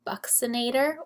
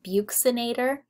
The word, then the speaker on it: buccinator: Also in the cheek is the buccinator or buccinator. Both are acceptable pronunciations.